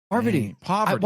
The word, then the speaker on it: Parvati: Because it's spelled weird, and Jeff calls her by what I just said. Well, do you know how people shorten it to Parv? That's a great indication of how to say I'm just gonna call her Parv.